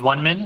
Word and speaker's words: One Minute: Uh last but not least, but uh my name is One Minute. It's pronounced like 1 minute.